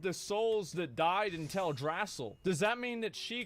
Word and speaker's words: Teldrassil: souls that died in Teldrassil? Does that mean that she caused Teldrassil to happen? Like, I'm so confused about this. Wait, what? What happened with Tidrasil? I know he's saying it wrong.